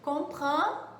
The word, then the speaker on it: comprend: Então, esse som de EN para nós vai corresponder aproximado ao un no português.